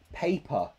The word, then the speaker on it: paper: here that's fine but this one a pay hey there are two sounds and they go together so you need to get that movement from the first sound to the next time air e air a hey paper paper so you must feel the sound move in your mouth a